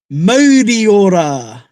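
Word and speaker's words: Mauriora: We say, Ti hei, T hey, Moriora.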